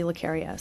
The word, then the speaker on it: Laria: something else and ironically everyone mispronounces my last name but it's actually Laria so Laria yeah let's go with